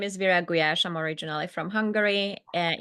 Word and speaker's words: Virag Gulyas: appreciation for that so yes my name is Vera guash I'm originally from Hungary and if you would